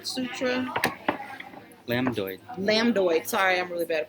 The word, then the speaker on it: lambdoid: The one that runs along the back part here is the lumbar sutra. Lambdoid. Sorry, I'm really bad at pronunciation. Lambdoid sutra.